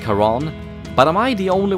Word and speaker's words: Charon: I know a lot of people wouldn't know that Charon is the ferryman of the dead in the Greek mysteries, or that it's pronounced Charon, but am I the